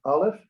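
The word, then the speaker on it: אָלֶף: This is aleph and this is ayin. They're both silent.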